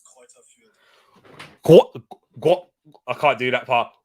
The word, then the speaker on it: Greuther Fürth: It's Greuther Fürth.